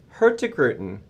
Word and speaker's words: Hurtigruten: about Expedition cruising yes and we're talking about her grutin which can I get like a plaque or something because I am pronouncing it correctly right yes you are producer